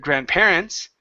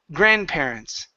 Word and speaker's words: grandparents: one here is grandparents so our stress is at the beginning instead of grandparents it's grandparents grandparents good all right so